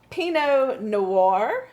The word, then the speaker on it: Pinot Noir: the Z Alexander Brown uncaged it is a Peno Noir is that how you say it yes yes